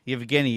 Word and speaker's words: Yevgeny: Yevgeny is how you pronounce the first name.